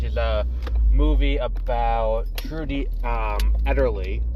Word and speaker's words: Ederle: movie about Trudy Ederle, which is how you pronounce her name. In the movie, they pronounce it fairly regularly as Everly, and I was like, oh, like the Everly brothers. And no, when they show her name, it's Ederly, so I guess whatever.